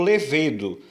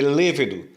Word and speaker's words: lêvedo: Muitas pessoas pronunciam a palavra como levedo. A palavra não é levedo, é lêvedo. Quando você comete esse tipo de problema, nós chamamos isso de silabada. O que é a silabada? É quando, em vez de acentuarmos uma sílaba, que seria a acentuação correta daquela palavra, nós estamos acentuando outra sílaba e dando uma pronúncia equivocada àquela palavra. A palavra é lêvedo e não levedo.